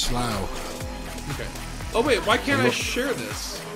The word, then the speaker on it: Slough: It's pronounced Slough.